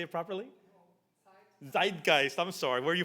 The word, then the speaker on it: Zeitgeist: Zeitgeist. I'm sorry. Where are you from? Are you from Austria or Germany? Germany. Okay. Zeitgeist.